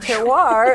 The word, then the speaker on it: terroir: hyphen Festival okay and terroir is spelled t-e-r-r uh Ohio yes and it's not not to be confused with Terror um it means a